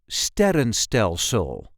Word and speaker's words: sterrenstelsel: This is the way we say sterrenstelsel. Sterrenstelsel. Not an easy word, I know. Sterrenstelsel. The emphasis here is on the first syllable. Sterrenstelsel. Ster, run, stel, sul. Sterrenstelsel.